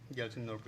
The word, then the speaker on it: Gyaltsen Norbu: I'm not sure I pronounce his name correctly. Gyaltsen Norbu? Gyaltsen Norbu, yes.